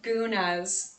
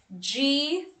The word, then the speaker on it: gunas: topic let's talk about the gunas so traditionally in ayurveda we have my friend